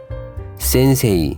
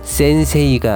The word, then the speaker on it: 先生: 단어들은 이렇게 발음하시면 됩니다 센세이가 아니라 센세 지레이가 아니라 지레요 케이가 아니라 요케 헤이 따이가 아니라 따이 메이지가 아니라 메진 데이 네이가 아니라 대네 센세 센세 지레 지레 게게 다 다 징 매네네 즉 이러한 단어는 앞글자를 장음으로 발음해 주시면 됩니다 일본어 갓 입문에서 외울